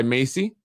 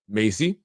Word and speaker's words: MHACY: section 8 here in the city is handled by macy pronounced macy like the name or macy's the store which stands for uh municipal housing although it has the h there which is silent housing agents agency of